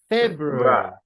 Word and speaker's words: February: in the second syllable number four February February February February where does it go first second third or fourth February Fe Fe fair right February February it's in the first syllable and the last one